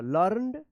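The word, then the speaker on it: learned: देखिए यहां पे हम लिख देते हैं लर्नड, ठीक है, ल के बाद आधा रॉ उच्चारण होगा, फिर न द, लर्नड, ठीक है।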